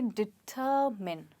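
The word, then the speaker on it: determine: इसमें स्ट्रेस अ पे रहेगा और MINE को हम मिन कहेंगे, ना कि माइन। सो ये वर्ड है डिटरमिन।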